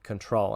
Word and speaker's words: Qntrl: its own product and it's now called control and that's spelled q& TRL so in today's video